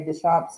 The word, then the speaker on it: Deschampe: And are now over at Butch and Mary Deschampe's house. Is it Deschampe or Deschampe or Deschampe. Deschampe? Deschampe. Okay. The regular way.